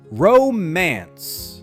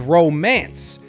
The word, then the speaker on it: romance: This word is often spoken with extra stress, but the correct way is romance. Start with row, smooth and rounded, then finish with man together.